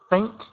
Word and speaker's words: think: You had problems with your pronunciation of think. The same as hu. So the f sound. Make sure it does not sound like tink.